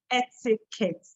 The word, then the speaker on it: etiquette: If you don't take care, you may end up pronouncing it as etiquette. No, no, no, no, no. It's not etiquette, but etiquette. Etiquette.